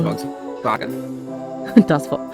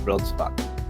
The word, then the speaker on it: Volkswagen: That was the time that everyone realized that in England we've been pronouncing the brand name wrong for years. We've constantly called them Volkswagen, but apparently it is Volkswagen. Oh, we call it Volkswagen here too.